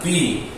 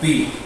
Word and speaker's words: Pi: Este sería su nombre y suena como una P, como por ejemplo la palabra papá. La palabra papá, la palabra pastel, sería el sonido de la letra Pi.